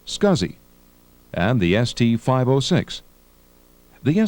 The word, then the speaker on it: SCSI: small computer system interface is pronounced scuzzy and the st 506